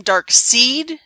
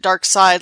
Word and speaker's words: Darkseid: See, I always want to call him Darkseid, because, that's how it's spelled, S-E-I-D. 2 vowels go walking, first does the talking. But everyone else always pronounces it Dark Side like it's German, so fine, whatever.